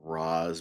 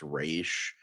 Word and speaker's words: Ra's: like the Middle East, it's Raz, but in like Mhm. Tibet or like East Asia, it's pronounced Raish.